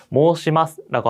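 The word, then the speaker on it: 申します: 이런 식으로 모으처럼 오의 발음이 들어가면은 실제로 발음을 할 때는 오오라고 장음으로, 즉 앞에 있는 이 소리를 끌어서 발음을 하는 경우가 많습니다. 그래서 모으시마스라고 읽는 것보다도 모시마스라고 하는 게 조금 더 자연스럽고요.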